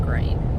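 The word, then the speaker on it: Gruene: It's spelled Grune, but it's pronounced Green, Texas.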